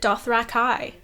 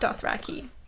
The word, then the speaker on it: Dothraki: Also, fun fact, George pronounces it Dothraki, Oh. not Dothraki.